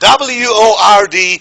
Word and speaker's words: word: you say what then I might think you you trying to pronounce a pronounced w AR D but wo Rd falls in this category word and look at this